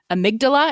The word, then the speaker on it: amygdala: It has It has the word Amy at right at the beginning of it, which I love.